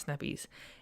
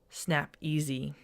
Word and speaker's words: Snap-Ez: easy easy snap ease it's not snap ease its snap easy like a sy anyways she'll go over